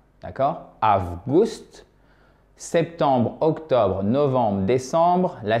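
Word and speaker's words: август: Maintenant, août, c'est presque comme en anglais, si vous connaissez l'anglais. Avgust. D'accord? Avgust.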